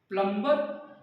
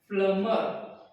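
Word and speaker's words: plumber: our lunch कीजिए इसका प्लमबर या प्लमर प्लमर या प्लमबर इसका राइट प्रोनंसिएशन है प्लमर यानी इसमें बी साइलेंट है और इसमें भी बी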